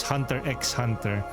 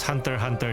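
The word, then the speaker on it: Hunter × Hunter: Many have mispronounce it before like it's Hunter X Hunter. Well, sometimes you you can pronounce it like that, but it's Hunter Hunter though.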